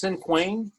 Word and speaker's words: cinquain: Cinquain?